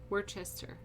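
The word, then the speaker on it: Worcester: to three chain one were word Chester we're Chester that's how you say it we're Chester what really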